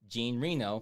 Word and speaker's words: Reno: like Leon the Professional Jean Reno pronounced like renal yes I do yes